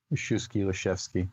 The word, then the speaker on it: Lisiewski: He tended to do the W more as a V, like a German V, like a chef's V, like soft F. but Lisiewski.